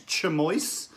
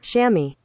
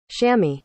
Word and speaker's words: chamois: you say the word i suspect it's chamois chimoy's it's probably some uh roots in some foreign language that i'm totally mispronouncing it so i'll put it on the screen shammy shammy so that's how you say it but that word